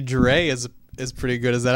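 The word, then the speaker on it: Drei: Dre is pronounced dry.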